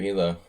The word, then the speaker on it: Elo: You increased your elo. Arpad elo. To living in Hungary for 15 years, I really ought to pronounce elo correctly.